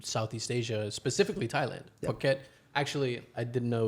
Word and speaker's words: Phuket: Phuket, Actually, I didn't know it was called Phuket. I used to call it Fuck It.